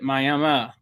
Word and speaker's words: Miami: There's a town in Northeast Oklahoma called, it's spelled Miami, just like Miami, Florida, but everybody pronounces it Miami. And if you're from Oklahoma and you pronounce it Miami, people will let you know it's not Miami, even though that it's spelled the same.